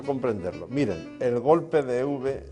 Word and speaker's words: Euwe: Miren, el golpe de Euwe, o de Euwe, que es como creo que se pronuncia correctamente, es majestuoso y muy incisivo, ¿no?